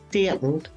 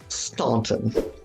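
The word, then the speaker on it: Staunton: say it correctly so it's Stanton not Stanton all right we are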